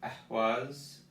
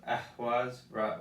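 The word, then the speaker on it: ehwaz: So Ehwas, Aiwas. Notice the emphasis is on the E and the emphasis on the H here. So Ehwas, while this is Aiwas.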